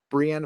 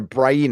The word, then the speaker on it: Brienne: have some lineage with Brienne of Tarth a Brian of Tarth I would say Brant Brienne is I have a